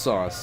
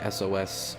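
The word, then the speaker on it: S0S: And yes, that's a zero, not a capital O or anything. It's pronounced sauce. I've seen people say SOS or other thing. No, it's supposed to be sauce.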